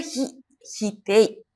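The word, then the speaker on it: 否定: Jadi dibacanya hitei. Ingat-ingat ya kalau ketemu sama kanji ini bacanya hitei.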